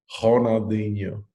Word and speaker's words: Ronaldinho: You can't pronounce the R because it's in Brazil. You got to have some swag to his name. Ronaldinho.